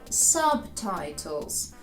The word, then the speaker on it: subtitles: ми не читаємо зауважте хоча слово subtitles має також буквосполучення BT але B в ньому читається Чому про це ми